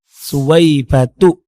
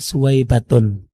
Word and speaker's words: Suwaibatu: Jadi, bacanya tidak ditanwin, Ustaz. Suwaibatu, bukan Suwaibatun.